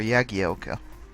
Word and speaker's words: Jagielka: ago swear there is Jagielka or yagi Elka and i still don't think it's properly been resolved because every now and then a commentator says oh I spoke to him and he said it's pronounced the eggy Elka and then the next week they're calling him Jagielka again who knows what